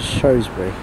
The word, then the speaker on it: Shrewsbury: Next up, you've got a double pairing of 170s which go into Shrewsbury. Or we now pronounce it as Shrewsbury. There's like two different pronunciations basically.